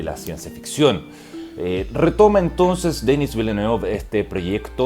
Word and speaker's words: Denis Villeneuve: My name is Denis Villeneuve.